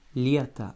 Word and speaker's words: лето: Lieta, avec l'accent tonique sur le Y, donc votre O final va se prononcer comme un petit A.